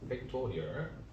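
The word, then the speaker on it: factorial: 했냐면 n 느낌표 이렇게 쓰게 되어 있어요 이거를 뭐라고 읽냐 팩토리얼이라고 있습니다 팩토리 얼 앤 팩토리얼 이렇게 있습니다 양키들도 알아먹어요 알겠죠 그래서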